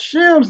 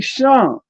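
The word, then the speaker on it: שם: In modern Hebrew, you pronounce it Shem. But in the ancient, in the Phoenician or in the Canaanite, it'll be Sham, right?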